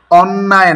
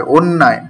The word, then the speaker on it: অন্যায়: আমি তোমার পক্ষে কথা বলছি দেখেই কি সব, উচ্চারণটা কিন্তু অন্যায় নয়, অন্যায়। কেন হলো এটাও আমরা সামনে জানবো।